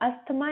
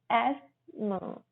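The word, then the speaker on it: asthma: इसको हम अस्थमा नहीं बोलते हैं, इसमें थ हमारा साइलेंट रहता है। एस्मा। एस्मा।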